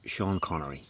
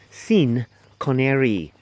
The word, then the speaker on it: Sean Connery: remember once they had Sean Connery yeah they couldn't even say his name properly they called him mr. scene canary right canary trying to make it not sound like Connery assumes everybody in the crowd heard mr.